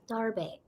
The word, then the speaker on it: Starbake: Oh, bake rhymes with cake. Thank you. Starbake.